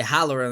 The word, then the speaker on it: Halloran: É Halloran, né? Isso, obrigado, é porque é parecida a GG. porra da pronúncia.